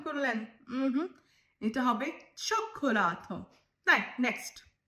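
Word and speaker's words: cioccolato: Next, কোক্কোলাতো উচ্চারণ করলেন, এটা হবে চোক্কোলাতো।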